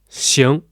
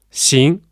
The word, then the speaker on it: 行: But we use velar nasal or back nasal, which means the position of pronunciation is at the back part of your mouth.